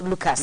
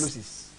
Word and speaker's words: Lucis: It's not pronounced Lucas. Lucis. But Lucis rather.